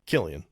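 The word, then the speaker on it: Cillian: Like for example, I always say this guy's name wrong. Silly Murphy. Is it Silian Murphy? Killian. Kill. Dang it.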